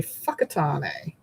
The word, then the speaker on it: Whakatane: So, um if it says w h, it's actually pronounced f. So, if you go to a town that the sign says Whakatane, it's actually Fuckatane.